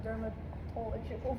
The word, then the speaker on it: dermatological: What are some examples of AI-powered tools currently used in dermatological practice? It's fine. We're just gonna Don't say the T in the word.